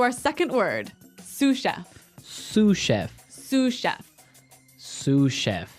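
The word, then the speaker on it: sous chef: Sue chef. Sue cheef. S o u s. So the s is silent because it's like a French word.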